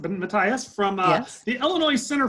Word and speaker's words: Matthias: We have Bonnie Matthias, am I pronouncing it Matthias, from Yes.